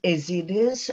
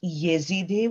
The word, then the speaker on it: Ezidi: And that now we turn to Ezidis. I first have to apologize. Apparently during the translation process, the Ezidi were mispronounced as Yezidi, which doesn't matter.